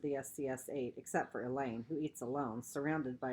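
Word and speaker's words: Elaine: even in the lunchroom Alain rhymes with pain while all those staring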